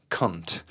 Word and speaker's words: Kundt: His name was Wolfgang Kundt. Oh, wow. Right? Okay. and that is spelled K-U-N-D-T.